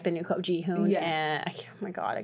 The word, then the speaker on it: Jihoon: I don't know if it's just because of how blunt Jihoon is. Am I pronouncing that right? Jihoon. Yeah. Jihoon.